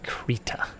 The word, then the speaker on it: Krita: Krita. Every time I say it, I'm like, that has to be the wrong pronunciation, but we looked it up. That's the right pronunciation.